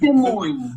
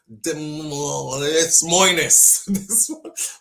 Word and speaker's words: Des Moines: Like, Des Moines-es. I try to say it correct, but it won't come out right.